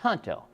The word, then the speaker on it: Junto: It's Junto, but it's pronounced Junto.